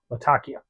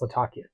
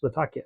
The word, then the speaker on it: Latakia: Latakia. Actually, pronounced Latakia. Again, because the town in Syria, and the pronunciation is Latakia, but I've always pronounced it Latakia, and it